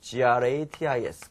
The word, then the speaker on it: gratis: 공짜로, 무료로 이렇게 쓰일 때는 요 단어가 이제 gratis, gratis라고 발음해요.